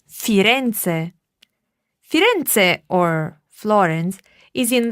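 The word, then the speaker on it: Firenze: what it is in italiano firends we say fiance fiance or Florence is in the Toscana region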